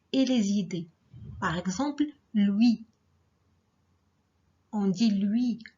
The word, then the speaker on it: Louis: Par exemple, lui. On dit lui, on ne prononce pas S.